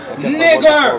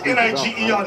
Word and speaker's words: Niger: Simeon that was called Niger. That was called, sometimes they pronounce N-I-G-E-R, Niger or Niger.